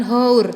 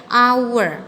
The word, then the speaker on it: hour: kenapa nggak pake karena kalau kita membaca huruf itu bacanya adalah hour a day huruf yang pertama keluar adalah huruf hour bukan hours tapi our maka huruf yang pertama